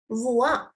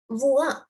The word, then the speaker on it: voix: For example, it's voix. Voix. It's not wax or anything. You don't pronounce the X.